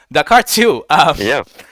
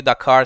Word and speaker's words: Dakair: I mean, it's some people call you Dakar, some people call you Dakair. What's the correct pronunciation of that? I guess pretty much Dakair. Kind of uncomfortable when people say Dakar. Like, I think of the Cars movie for some reason.